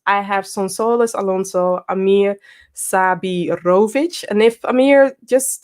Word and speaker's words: Amir Sabirović: some more about that and then we have amir sabirovic i'm hoping again i'm hoping that i'm pronouncing it perfect perfect okay good he is